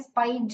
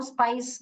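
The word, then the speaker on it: spice: ये स्पेलिंग जो आपने लिखा है, स्पाइज नहीं बोलते हैं उसको, स्पाइस बोलते हैं, अगर आप स्पाइस मीन कर रहे हैं तो।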